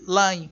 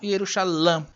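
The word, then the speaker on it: ירושלים: Então eles colocam uma nota de rodapé no texto, indicando, no texto de Nelingrado, a pronúncia correta seria Yerushalayim. Yerushalayim, não Yerushalam.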